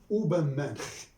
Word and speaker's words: Übermensch: In German, Superman is Übermensch, or Übermensch, Übermensch or Übermensch. It depends on how they pronounce the final sound.